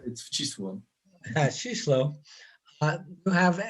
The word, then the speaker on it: Wcisło: I don't dare try to pronounce it. Yeah, it's a killer. It's Wcisło.